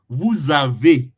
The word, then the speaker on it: vous avez: because S and A, when you pronounce it, when speaking, S and A, the S is going to turn to Z, Z, like Z, Z.